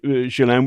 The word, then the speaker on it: Ghislaine: the way, I call there's an argument about how to pronounce it. Jillen is the American trans pronunciation. We heard that it was uh Shalan, which I stick with.